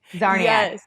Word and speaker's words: Czarniak: We both have CZ's, Zarnia. So the C is silent.